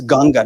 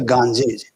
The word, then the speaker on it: Ganga: The name of the river Ganga is Ganga, not the Ganji, not the not the Himalaya.